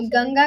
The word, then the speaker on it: गंगा: बेचारा गांजा पी पी के इतना मतलब दिमाग खराब हो गया कि गंगा को गांजीस मतलब क्या करें? गंगा सिंपल प्रोनाउंसिएशन है।